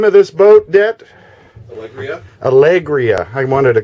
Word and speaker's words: Alegria: How do you pronounce the name of this boat, Det? Alegria. I wanted to call it Algeria.